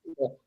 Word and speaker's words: Schuylkill: questions about the Schuylkill, which is not spelled like that. Ah, wait, what Yeah. is it? It's spelled okay. SCHUYKYLL, and it's pronounced Schuylkill. Right.